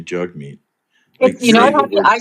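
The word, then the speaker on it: Jagmeet: Jug Meat Singh, It's Jug Meat Singh. It's Jagme Singh. Really happy you've moved to Jug Me Singh now. No, he's asking you to pronounce his name correctly. Jug, not Jagme.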